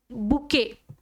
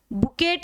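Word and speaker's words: bouquet: आगे है बुकेट T silent रहता है बुकेट मत बोल देना भाई बी ओ यू क्यू ई टी इसका प्रोनंसिएशन बच्चा कैसे करोगे बुके ये बुके है आप सब जानते हो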